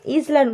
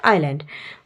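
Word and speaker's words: island: অনেকে এটাকে ইসল্যান্ড উচ্চারণ করে, এটা কিন্তু ভুল, এটা হচ্ছে আইল্যান্ড।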